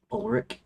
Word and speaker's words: Olrich: Olrich, short like ulcer plus Rick.